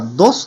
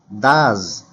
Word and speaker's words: does: これ S を使ったら dos と goes と変な発音になるので dos じゃなくて does, goes I go to work He goes to